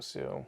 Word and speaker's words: HSU: of is it pronounced Sue? I believe so. It's HSU. Yeah. H silent, so Sue.